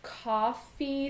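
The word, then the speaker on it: Ko-fi: And I know there's a lot of other things, like there's coffee spelled with a K-O, and I think it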